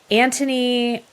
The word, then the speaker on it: Anthony: former model beautiful awesome Anthony why can't we ever pronounce the h in Anthony I don't know it's it's different right like it's yeah it's like a Silent Age okay so Anthony is